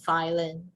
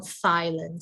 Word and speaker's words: Thailand: a lot of people we struggle with the pronunciation with this th we say thailand right we say thailand but the correct pronunciation of this will be you have to sound silent okay silent okay right so